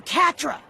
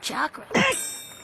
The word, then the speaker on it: chakra: this some kind of I said you're Catra boss I uh think you're talking about chakra don't question me real